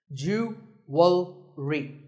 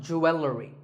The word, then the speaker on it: jewelry: number 44 is jewelry it's spelled differently in American and British English but it's pronounced the same jewelry it's not jewelry and it's not jewelry it's jewelry up next is the